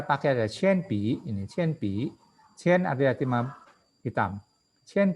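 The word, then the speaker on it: 铅笔: Kalau nada 3 yang paling belakang itu kita harus bacanya penuh. Tadi kebetulan ini pi, nada ketiga kan, maka dia harus baca penuh. Pi, qian pi, nggak seperti tadi ini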